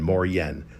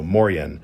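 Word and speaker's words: Moien: It is pronounced something like more hyphen yen. So m o r hyphen yeen moren. So moren.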